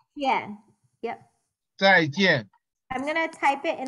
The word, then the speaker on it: 再见: Zaijian. Yeah. Yep. Zaijian.